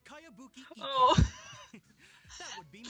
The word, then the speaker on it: Kayabuki Iki: By Kawabunga Iki. Yoimiya, this is a really. Who's this Kawabunga? It's pronounced Kayabuki Iki.